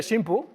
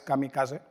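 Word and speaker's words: 神風: Bien, así es como se escribe shimpu, que significa viento divino, viento viento de los dioses. Es una palabra que ha pasado más a la historia por otra pronunciación. teóricamente incorrecta, que es Kamikase, ¿no?, que es como conocemos a esos pilotos.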